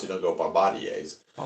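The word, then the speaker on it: Bombardier: Well, I say Bombader, but everybody goes, "That's not how you pronounce it. It's Bombadier."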